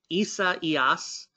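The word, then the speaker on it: Isaias: of 8 a.m uh isa eos is how you end up pronouncing that storm uh it ended up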